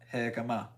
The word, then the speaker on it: jicama: love you and I want to pay you Jicama. more. Okay, yeah, I said it right. Jicama.